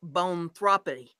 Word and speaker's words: boanthropy: People can suffer from a psychological disorder called bonthropy, and that is spelled BOANTHROPY, that makes them believe that they are a cow.